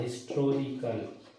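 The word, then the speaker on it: historical: होता है हिस्टोरिकल, हिस्टोरिकल, चूंकि अमेरिकन इंग्लिश में एच साइलेंट होता है इसलिए वो लोग इसे एन लगाते हैं, लेकिन अपन ब्रिटिश इंग्लिश पढ़ते हैं, अपने यहाँ एच साइलेंट नहीं होता, और इसको अपन पढ़े लिखेंगे हिस्ट्रिकल, इसका प्रोनाउन, तो जो हा है वो व्यंजन है, इसलिए अपन लगाएंगे अ हिस्ट्रिकल नोवेल, ऐसे आप यूज करेंगे।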